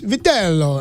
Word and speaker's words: Vitello: It's Vitello.